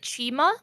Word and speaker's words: Chima: Chima.